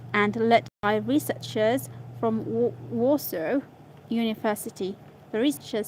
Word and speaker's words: Warsaw: Let's see how to pronounce Warsaw. Not Warsaw. Warsaw.